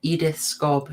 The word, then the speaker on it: Edith Scob: Think what a nightmare it was for, and I've got to check so I pronounce it correctly. Oh, it is, Edith Scobb, who is playing Christiane here.